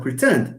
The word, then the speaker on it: pretend: Now, for pretend, do you say pretend? No. You pretend? No, it's you pretend. So again, here you have the second syllable, not the first.